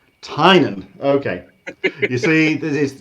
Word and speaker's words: Tynion: no it's the the the classic irish spelling would be more t-y-n-a-n and my family still pronounces it that way but it hasn't been